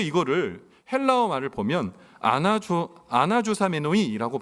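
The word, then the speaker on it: ἀναζωσάμενοι: 근데 이거를 헬라어 말을 보면 아나조 아나조사메노이라고 발음하는 헬라어 뜻인데이 뜻이 뭐냐 여행 등의 출발을 위해 의복을 허리띠로 조이고 단단한 태세를 취하다.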